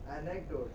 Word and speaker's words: anecdote: Anecdote. Anecdote. No. Is a pre-final. Count which syllable is pre-final? A. So it will be anecdote.